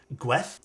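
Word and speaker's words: Gwŷdd: And I believe they actually told me it's pronounced, I still can't pronounce this, Gweth is the correct way of pronouncing it in Welsh.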